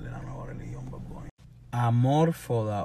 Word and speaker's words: Amor Foda: Amor Foda o Amor Foda. Es que si fuera Esdrújula, se supone que lleva acento en Amor Foda. Y no tiene acento. So, es Amor Foda.